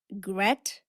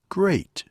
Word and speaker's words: great: The Gret. How do you pronounce this word? Great. We say great. It has the same vowel sound as train. A.